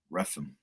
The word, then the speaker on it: Rephan: Rephan.